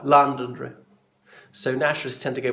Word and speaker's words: Londonderry: They would overemphasise the London, and the Derry word would be scarcely audible, say it like Londonderry.